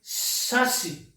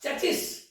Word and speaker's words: chassis: See, sa, si. This is non-aspirated, what we call as dantasa. This one is the another sa, aspirated sa. It is sasi, not chassis.